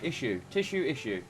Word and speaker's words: issue: You can say yeah. tissue, and then just drop the T. Issue.